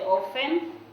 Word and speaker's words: often: tea is silent you don't say often she is silent so you say often uh i have the word usually usually and